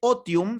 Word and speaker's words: otium: negación del otium, ocio, en latín se dice otium, se escribe otium.